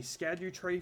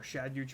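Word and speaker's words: Scadutree: plus point for this the scadu Tre fragments or shadu fragments evidently as it's pronounced hey we found the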